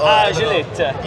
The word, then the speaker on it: Acelith: say Acelith in Italian, so Acelith.